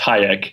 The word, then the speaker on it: Hajek: Well, technically, it is pronounced Hajek, and I'm quite proud of that. And my grandmother would insist that everyone pronounce it that way. But everyone kind of has their own way of pronouncing it. I just say Hajek. I get Hajek, Hajek, Hajek, whatever. Hajek is fine, or Hajek if you want.